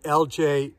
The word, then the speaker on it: Ellijay: texas although today i am right now in lj georgia that is spelled e-l-l-i-j-a first time to pull up into